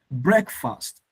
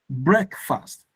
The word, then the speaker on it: breakfast: But guess what? The breaking fast is break. Egg like egg, breakfast, breakfast.